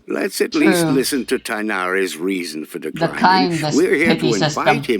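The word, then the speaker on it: Tighnari: shows up here i call him tainari it's thainari that's how the that's how the english voice actors pronounce it at least what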